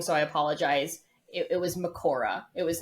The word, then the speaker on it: Mahoraga: It was Makora, which is a shortening of Mahoraga, which is the Japanese pronunciation. But apparently Mahoraga is also correct because it is based on Buddhism. And so Mahoraga is Sanskrit. So neither is wrong.